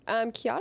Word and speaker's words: Chiara: Her name is spelled Chiara. Oh, okay. So if you were trying to read that, I think another kid was trying to read it and was like, Chi, and like couldn't do it.